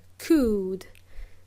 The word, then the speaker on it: could: should L is silent we spell could with an L but we do not pronounce l we do not pronounce the letter L could so we use model